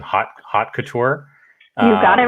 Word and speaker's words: Hot Couture: But before SNOWE, it looks like you launched something called, and you can correct my pronunciation, Hot Couture.